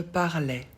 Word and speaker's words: parlais: Je parlais. Donc pour je, on ajoute A, I, S. On ne prononce pas le S.